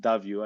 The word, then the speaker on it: Davio: think Spanish yeah the Spanish people call it davio I think they call David David so the